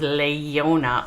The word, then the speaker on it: leijona: not has the j i made google google pronounce that for me and they said it was lei yonah so maybe it's king